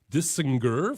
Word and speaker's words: Dissinger: We have Mark Dissinger from 2nd Street.